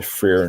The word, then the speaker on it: Freyr: The Freyr Norse. Freyr. How do you say this? Freyr. Freyr. I'm sorry. What are you trying? That word. Freyr. Yeah. Freyr. FRE. Yeah. YR. YR. It's a Norse axe.